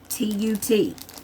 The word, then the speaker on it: Tontut: But it's, I think it's pronounced Tontut. It's Tontut.